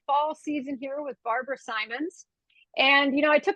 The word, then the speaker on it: Symons: you pronounce it and I'll say Simons and then they introduced me as Simmons it makes me giggle